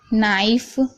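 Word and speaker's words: knife: एन से पहले आया के साइलेंट रहता है, यानी एन से पहले अगर के आएगा तो के साइलेंट रहेगा।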